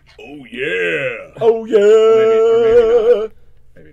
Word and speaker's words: Ouya: it's pronounced like the Kool-Aid guy says it. Oh yeah!